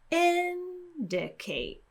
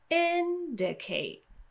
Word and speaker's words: indicate: start listening for it maybe you can hear that my pitch is highest at the beginning of the word indicate so I start off high and then my pitch drops lower indicate I'm exaggerating it a